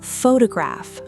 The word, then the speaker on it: photograph: She gave me the word photograph, stressed on the first syllable, pho-to-graph.